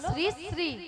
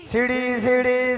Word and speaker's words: শ্রী শ্রী: ছিরি ছিরি নয় বলো শ্রী শ্রী কি বলো শ্রী শ্রী সিড়ি সিড়ি সিড়ি সিড়ি সিড়ি সিড়ি সিড়ি সিড়ি সিড়ি সিড়ি সিড়ি আমি কি সিঁড়ি সিঁড়ি বললাম আমি বলেছি শ্রী শ্রী ঠিক করে উচ্চারণ করো তুমি ঠিক করে উচ্চারণ